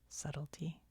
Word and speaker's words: subtlety: Isn't that weird that that word is pronounced subtlety when it's like a B?